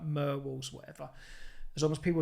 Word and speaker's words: Murwalls: So it's a combination of the word mural and walls. So it's Murwalls, but people find it hard to say it, including myself.